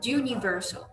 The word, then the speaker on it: universal: A gente brasileiro pronuncia assim, mas eles pronunciam universal. É como se fosse um J também, como o de European, e aí eles classificam isso como sendo uma consoante.